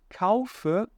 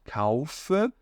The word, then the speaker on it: kaufe: No alemão isso não vai acontecer, que eu não posso falar ich kaufe. Ou então, alguns alunos tentam de alguma maneira, eles leem dessa maneira, mas esquecem de pronunciar o E ali no final. esse E tem que ser muito bem pronunciado, tá?